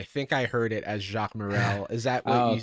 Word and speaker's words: Jacques Morel: and let me know if i'm pronouncing your name wrong i think i heard it as jacques morrell is that correct yeah okay that's correct um